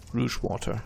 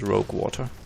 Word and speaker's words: Rouge Water: Rouge water, that's nice. Which for some reason, for a long time, I mispronounced as rogue water.